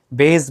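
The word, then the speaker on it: Bayes: আমরা বাংলাদেশ বিদেশীরা কিভাবে বাংলাদেশ বলে তো এজন্য বেস বায়াস এটা আসলে যে কি এটা আমিও 100% জানি না বইতে বিভিন্ন রকম বাংলা যখন করে কোন কোন জায়গায় বেস বলে আবার কোন কোন জায়গায় বায়াস বলে টিচাররাও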